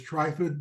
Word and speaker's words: Trifid: You all may pronounce it as Trifid. The movie The Day of the Trifids was fairly new, or was out then and popular, so we wanted everybody to remember our name.